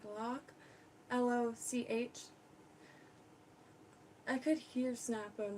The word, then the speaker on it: Loch: or LOCK, like Loch, L-O-C-H, I could hear Snappo in the back of my head, like, you're pronouncing it wrong. Loch. Code Loch. I'm not making fun. That's just how it's pronounced.